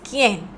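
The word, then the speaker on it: quién: the E and then in Spanish who is Ken Ken is q u i e n in Spanish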